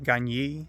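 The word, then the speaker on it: Gagné: And there were two researchers whose surnames were Gagny, I think it's pronounced in French, it's spelled Gagne, and another surname which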